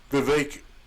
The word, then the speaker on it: Vivek: But this was Vivek rhymes with cake, letting the Republican voters know that you won't have to change your regularly scheduled program of conspiracy theory soup.